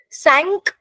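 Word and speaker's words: cinq: Sank is like s a n k in English right? Swimming sank.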